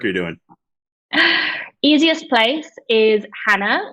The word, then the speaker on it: Jana: doing easiest place is Hannah which is spelled j a n a you wouldn't expect that but I'm half Spanish